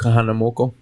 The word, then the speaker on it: Kahanamoku: That's what I can pronounce, Duke. Yeah. Duke Kahanamoku.